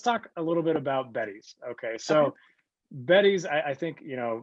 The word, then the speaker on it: Beddys: Okay, so first off, Beddy's is spelled Beddys, and I had no idea that they sounded similar.